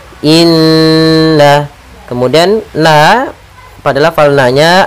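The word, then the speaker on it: إنّا: fahum muqmahun pada bacaan Inna di sini ada lafal Nun bertasydid kita namakan dengan bacaan gunah atau hukum tajwidnya kita namakan dengan gunah cara membacanya adalah kita menahan suara nnya dua harakat Inna kemudian na pada lafal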